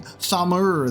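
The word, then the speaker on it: Tharmr: I've been saying Thamur with like the R on the end. It's just Tham. Just take the R off. Just have it be Barnabas Tham.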